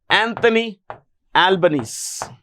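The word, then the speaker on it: Albanese: yeah who is the Prime Minister of Australia Anthony albanes Anthony albanesi that's the way it's pronounced his name is pronounced Anthony Albany okay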